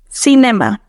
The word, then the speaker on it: cinema: Cinema. Cinema. Careful. There are two schwas in this word. First in the E and then in the A. Now, pronounce it in Spanish. Cinema.